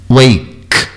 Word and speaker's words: wake: E cow tem esse ar que sai junto, peeking e wake. E não é wake, é wake. O E final, isso muita atenção. O E final nunca é pronunciado.